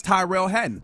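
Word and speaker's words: Tyrrell Hatton: The way that I say his name, that's Tyrell Hatton.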